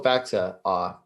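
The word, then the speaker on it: Faksa: you have to be on checking because, also Faxa got hurt.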